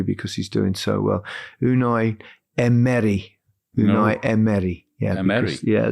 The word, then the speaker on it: Unai Emery: Unai Emery. Unai Emery. Yeah, Emery. Because, the emphasis is over the middle E. It's not Emery. It's Emery. Okay.